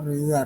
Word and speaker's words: ฤ: เสียง พยัญชนะ รอ เรือ รวม อยู่ ด้วย รึ อ่าน ออก เสียง ได้ 3 แบบ หนึ่ง ออก เสียง เป็น รึ แบบ ที่ 2 ออก เสียง เป็น ริ แบบ ที่ 3 ออก เสียง เป็น เรอ งาน มี ตัว รอ เรือ